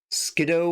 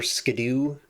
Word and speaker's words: Skiddo: Skido or Skadoo. I think it's officially supposed to be Skdoo even though it's spelled Skid. Very cute goat.